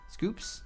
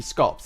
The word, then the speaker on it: Scops: Scoops? Scops? It'd be Scops, actually, because Scoops would have two O's.